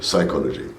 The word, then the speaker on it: psychology: second subject which was psychology okay I do not pronounce the P at the beginning right psychology M but what what